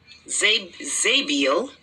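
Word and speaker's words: Zabdiel: For Zabadiel, let's find out how this pronunciation. Zabiel.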